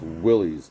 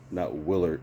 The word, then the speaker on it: Willys: And it's pronounced Willys, not Willard, not how you pronounce it, on your video,